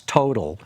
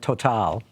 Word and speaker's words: Total: hotel the French Petroleum which we used to pronounce total right but now everyone calls it total and I've never seen